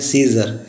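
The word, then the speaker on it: Caesar: जैसे एग्जांपल है सीज़र। सीज़र में ई से पहले ए आया हुआ तो उसको हम लोग पढ़ेंगे सीज़र, जिसका अर्थ होता है रोमन सम्राट।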